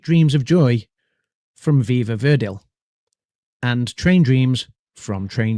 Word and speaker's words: Verdi: Sweet Dreams of Joy from Viva Verdil. and Train Dreams from Train Dreams. So none of us picked Sweet Dreams of Joy from Viva Verdi, not Viva Verdale. Apologies for my mispronunciation on that VT there.